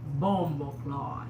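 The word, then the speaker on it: bomboclaat: It has to ring. Bombo. It comes from the from the gut. It comes all the way out, right? Bomboclot. Bomboclot. That's how you say it, Queen.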